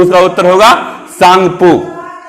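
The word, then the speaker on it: Tsangpo: तो उसका उत्तर होगा सांगपो। इसमें टी साइलेंट है, सांगपो बोलेंगे।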